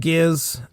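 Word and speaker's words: Gizz: Yeah, I mentioned I mentioned Giz and I definitely wrote down that's a hard G.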